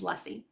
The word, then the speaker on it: Luesse: her last name is Lessie rhymes with fussy that's what she said